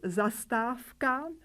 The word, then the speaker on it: zastávka: Similarly, in the word zastávka, bus stop, we pronounce the voiceless pair F.